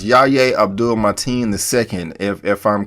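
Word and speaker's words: Yahya Abdul-Mateen: had a great presence his name is pronounced Yaya Abdul mighty in the second if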